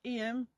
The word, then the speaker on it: Eyam: from where we're from we call it IEM it's spelled e y a m so you probably all know that IEM is the place where